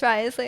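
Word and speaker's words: Wriothesley: I feel like I still say that in my head, even though I know it's Risley.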